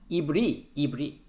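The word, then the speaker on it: עברי: Hebrew here that is the pronunciation of the Hebrew is the ibri Let's go to the dictionary.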